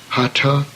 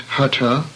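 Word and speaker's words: hatha: and around this city hata yoga is the next term please note the aspirated T as in anthill not present nothing since Hutta means forced the term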